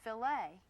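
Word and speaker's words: filet: It's pronounced filt and that's the proper way to talk about a filt of beef.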